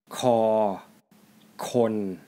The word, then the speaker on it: ฅ คน: Kho is the first part, which is the sound it makes as an initial consonant or starting sound. Kho has the first tone. It has the same pronunciation and tone with kho khoai. It is equivalent to the English K, K sound.